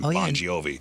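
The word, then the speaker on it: Bongiovi: Jake Boniovi. That's Millie Bobby Brown's uh husband and John Bonio's son. That's how you would say his name. Bonjiovi.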